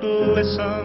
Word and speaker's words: glisten: you'll never hear you will see it glisten but no matter how you listen you'll never hear that silent t not even in a whistle not even in a